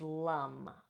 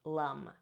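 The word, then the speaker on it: lam: for the root is Lum Lum and so it's spelled l a m but the a in Sanskrit is pronounced uh so it's going to be Lum so you'd be like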